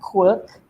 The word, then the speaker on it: Qwork: company name is a bit odd huh it's pronounced Quirk right but we are a legitimate Malaysian locals